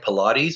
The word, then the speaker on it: Pilate: It's spelled like Pilates, but it's not. It's Pilate, like the Roman governor who unfortunately washed his hands of Jesus.